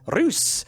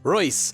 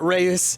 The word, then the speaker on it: Reus: some more rays or as my Dutch fans have told me it's actually pronounced ruse so there we go we're actually playing a game called ruse or if it's German then it's Royce but either way it's